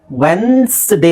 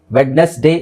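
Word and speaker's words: Wednesday: ವೆನ್ಸ್ಡೇ ಸೋ zೆಡ್ ಉಚ್ಚಾರಣೆ Monday ಟ್ಯೂಸ್ಡೇ ವೆಡ್ನೆಸ್ಡೇ ಅಲ್ಲ ವೆನ್ಸ್ಡೇ ವೆನ್ಸ್ಡೇ okay so this is the correct pronunciation ಇದು ನೀವು dictionary ಹುಡುಕಿದ್ರು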